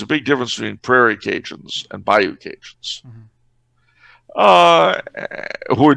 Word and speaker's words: Cajun: The interesting thing, though, is that one of the very few peculiarities of Louisiana Creole French is the way they pronounce D. They pronounced it with a J. So instead of calling these people Acadiens, they call them Acajans. And our word Cajun comes from Acajans, Cajun.